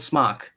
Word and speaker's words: SMOK: But I also pronounce it smoke instead of smock, and I get Exactly. murdered. Everyone in the UK calls it smock. Yep. But Well, it's there's supposed no E, so the O is.